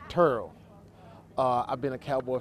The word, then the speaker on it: Terrell: dallas if you're checking some people spell it with an e i say it with a u turo uh i've been a